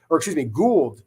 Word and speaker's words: Gould: So to me, Gould is how it's pronounced.